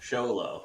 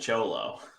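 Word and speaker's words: Xolo: Miguel Sholo, which again, I learned that they it's the same spelling, but when it's a person's name, it is pronounced differently. You do not pronounce it Cholo.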